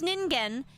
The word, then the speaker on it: Ningen: Oh, it's ningen. Thank you, redacted. Yes, it means human. Yes. I'm sorry. I pronounced it ninja. Ningen.